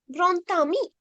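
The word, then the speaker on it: grand ami: එහෙනම් බලන්න මෙන්න මෙතන මේ second point එක මේ D is pronounced as T. එහෙනම් මෙතන grontami the එකක් ඇහෙන්නේ. grontami. මෙයා silent letter එක D එක ඒක vowel එකක්. එහෙනම් grontami.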